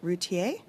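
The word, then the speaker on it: Routhier: in, so I want to make sure I've pronounced it correctly, but for Jean-François, is it Routier?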